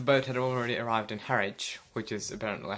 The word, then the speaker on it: Harwich: And the boat had already arrived in Harwich, which is apparently how you pronounce it, when we woke up, and then